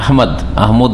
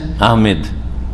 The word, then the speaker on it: আহমদ: আমাদের দেশে নাম উচ্চারণে কিন্তু ভুল আছে। এই যে আহমদ, এটাও ভুল। আর একটা হচ্ছে আহমেদ, ইংরেজি থেকে নেওয়া। ইংরেজিতে লিখে কি? আহমেদ লিখে, MED, যার ফলে আহমেদ বলে, ভুল। আহমেদ নাই, আহমদ।